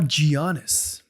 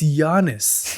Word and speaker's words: Giannis: to know it's not gianis it's gianis the g is silent yes why do I